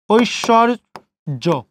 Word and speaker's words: ঐশ্বর্য: ওই ঐশ্বর, ঐশ্বর্য, ঐশ্বর্য। এখন শব্দের মাঝে তালবস্যের সাথে ব ফলা, শুধু তালবস্যের উচ্চারণ 2 বার করেছি, ঐশ্ব, এবং রেফ ছিল, তার পূর্ণবর্ণ কি, র, জয়কারের জ, ঐশ্বর্য বান।